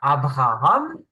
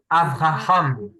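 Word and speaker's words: אברהם: V, Mais s'il n'y a V, pas de point dedans, ça se prononce V. bête, C'est pour ça que on dit pas Abraham, mais on dit Avraham.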